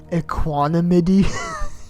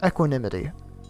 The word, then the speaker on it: Equinity: about this map equinity I looked at the pronoun iation by the way I think I said like aanam in the video I didn't really know how to say it at first but it's equinity by aelius this midi is